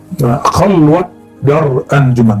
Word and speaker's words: Khalwat dar anjuman: Khalwat dar anjuman, bukan khalwah ya.